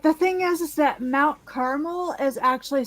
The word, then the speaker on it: Carmel: it's California um com it's Carmel that is the way that that is the way that the people who live there pronounce it okay here we go